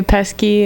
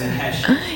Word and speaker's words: Pesce: Yeah, some people say Pesky, and some people, I'm like, just like Joe Pesci. I don't like your Pesky. I'm assuming it's Pesci, but Yeah.